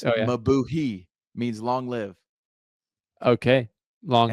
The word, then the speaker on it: Mabuhay: It looks like it's Mabuhi, means long live.